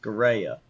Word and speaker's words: Scirea: Can we get an authentic Italian pronunciation? Yes. Scirea.